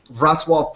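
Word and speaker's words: Wrocław: It's this bas this is based in it looks like Roclaw, but it's actually pronounced Vatwave, Poland.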